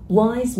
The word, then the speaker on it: wise: Wise man, wise, âm này là âm z ở đuôi nha.